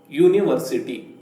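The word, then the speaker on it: university: ಆದರೆ ಹಾಗೆ ಮಾಡಿದ್ರೆ ತಪ್ಪಾಗುತ್ತದೆ ಇಲ್ಲಿ ಯು ಅಕ್ಷರದಿಂದ ಶುರುವಾಗಿದ್ದರೂ ಕೂಡ ಇದನ್ನು ಉಚ್ಚಾರ ಮಾಡುವಾಗ ಕಾನ್ಸೋನೆಂಟ್ ನ ಧ್ವನಿ ಕೇಳಿ ಬರುತ್ತದೆ ಆವಾಗ ನಾನು ನಿಮಗೆ ಹೇಳಿಕೊಟ್ಟಂತಹ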